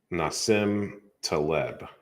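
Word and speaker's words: Nassim Taleb: about black swans n-a-s-i-m that's how you say his name nasim teleb i would i would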